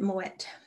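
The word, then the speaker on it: Moët: is uh moet hennessy i always think that t is silent but i think you pronounce it moet hennessy so louis vuitton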